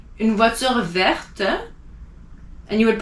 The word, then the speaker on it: vert: Like vert, the color green, you don't pronounce verte, unless it's a woman, but vert, and it stops there.